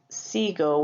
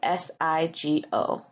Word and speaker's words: sigo: It is not siguo with a u. We do SIGO and for conseguir, there